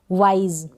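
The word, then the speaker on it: wise: डब्ल्यू को व, आई और एस को ज, वाइज। क्या पढ़ेंगे, वाइज। एस को ज पढ़ेंगे।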